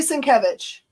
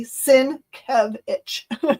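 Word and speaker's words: Sienkiewicz: Yeah, it is truly Sincvich. He even changed the name of his com his uh signature and like his company thing to say Sinkevich so people know how to say it because it looks like Cincoich is not.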